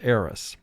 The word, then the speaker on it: heiress: word aeres now notice we have a wave sign under the h to indicate the h is silent here but we have to